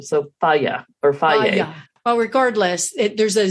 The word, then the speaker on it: Fage: And I understand that it's not F-A-G-E like Fage or Faye. Faye. Am I saying that right, Jill? I think so. Faye. I think that's what it's called, but it's spelled F-A-G-E. Yes. And I think the stress is on the first syllable.